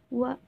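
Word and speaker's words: は: Atau yang minasang baru tahu itu huruf H ya, tapi dibacanya wa karena dia sebagai partikel subjek.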